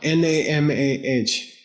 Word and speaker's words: Namah: N-A-M-A-H. H at the end. Yeah, Namah. Okay, yeah. Sarva. S-A-R-V-A. Sarva. Good. Tathagata. T-A-T-H-A-G-A-T-A. Tathagata. Okay. Avalokite. Avalokite. Avalokite. Avalokite. Yeah. Namah Sarva Tathagata Avalokite.